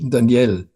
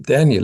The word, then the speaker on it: Daniel: name of the son, whom everyone pronounces in French, Daniel. Surprisingly not, but mother calls him Daniel in English, and surprisingly not in German, Daniel.